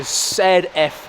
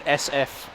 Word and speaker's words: ZF: It's a ZF, not an SF. There we go. Zulu Foxtrot.